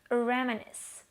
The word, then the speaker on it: reminisce: Reminisce. Be sure to get its pronunciation right.